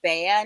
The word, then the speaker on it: Bea: My name is Bea, not Bella.